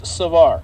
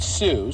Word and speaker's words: Savar: And it's Savar. I guess I saw the su and I thought indomicin sue and that's why I said sue. No, but saw like saw dog saw Luke five total.